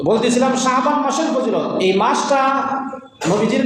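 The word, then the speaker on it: شعبان: এবং জানার চেষ্টার জন্য সবাই সহি ভাবে শুদ্ধ ভাবে উচ্চারণ করি শাবান শাবান শাবান শাবান আমরা ইংরেজি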